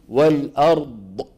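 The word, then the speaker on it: والأرض: السماوات والارض والارض والارض وبس ما في داعي نقول والارض سمعين هذه ض هذه ايش هذا صوت زائد صوت زائد لا معنى له والارض بس الامر الثاني لما بنطق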